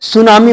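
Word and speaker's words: tsunami: पर ये टी वाला जैसे इसको सुनामी बोलेंगे टी साइलेंट रहेगा याद रखना फिर इसके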